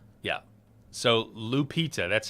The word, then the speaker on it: Lupita: So, Lupita, that's how you say her name.